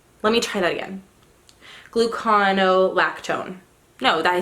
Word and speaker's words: gluconolactone: Gluconolactone. No, I said it right. I said it right. Gluconolactone.